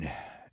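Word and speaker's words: Pyun: Pune. It's And- P-Y-U-N, right? Yes. Yeah, Poon. Yeah. Okay. And No, rest in Pune, peace. right? Rest in peace, Albert. Yeah, it is pronounced Poon.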